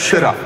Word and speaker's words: Syrah: In old world wine countries जैसे कि France, हाँ, Italy, it is called people call it as Syrah.